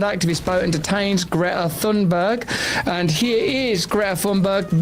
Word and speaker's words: Thunberg: Israel seizes Gaza-bound activist boat and detains Greta Thunberg. And here is Greta Thunberg being captured while delivering food to Gaza. Let's have a look. My name is Greta Thunberg and I am from Sweden.